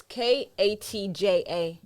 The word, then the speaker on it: Katja: Yeah, same I way it's pronounced. had a girl called It's Khadija. before. Katja. No, it's Katja.